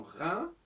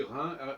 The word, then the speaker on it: Rhin: maintien du H dans Rhin et dans Rhône. Ça ne gêne pas, on écrit Rhin, R-H-I-N, Rhône, R-H-O-N-E, ça ne change pas notre prononciation, ce qui est un